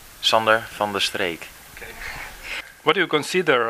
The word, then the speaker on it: Sander van de Streek: Okay, van der Streek, what's the correct pronunciation of your name? Sander van der Streek.